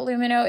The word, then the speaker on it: Lumineux: That's LUMINEUX. Remember, it's spelled with an X, so you can X out the harm.